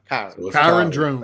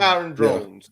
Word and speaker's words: Kyron Drones: Yeah, he said it's pronounced like Byron. Kyron Drones. Kyron Drones.